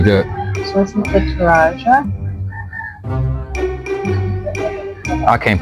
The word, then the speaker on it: Toraja: So this is the Toraja. I can't pronounce the name of the coffee, so I'm gonna let my wife pronounce that. Toraja.